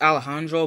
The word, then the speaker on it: Alejandro: of dude um Alejandro it's pronounced Alejandro but whatever hope you've been seeing